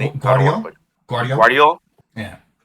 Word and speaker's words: Guardiola: And by hit, yeah, sorry, how do you pronounce his name? I don't want to Guardiola? put Guardiola? Guardiola.